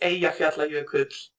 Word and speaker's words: Eyjafjallajökull: So the 2010 one is Eyjafjallajökull.